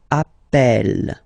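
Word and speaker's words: appelle: plural form Double L so when you get this a vowel and then you get a double consonant and well they are the same then it does change the pronunciation of uh you tend to pronounce it like e e really open that's the reason why you pronounce it Appel Appel okay Appel Appel Appel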